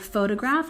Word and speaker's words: photograph: different stress placement here the word photograph has a stress on the first syllable photograph photograph and next we have